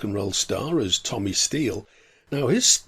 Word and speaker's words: Stil: roll star as tommy steele now his name actually had an origin it was from his scandinavian grandfather thomas steele hicks spelt s-t-i-l but pronounced steel his next thing it